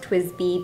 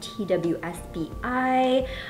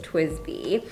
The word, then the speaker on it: TWSBI: quirky little story and it is pronounced twisby people ask us sometimes in store if it's like twsbi um people are confused by how to say it but it is twisty um and so twisty